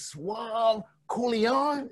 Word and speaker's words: Suave Colione: But we found out just now from Jerry Woods that your name is Suave Colione.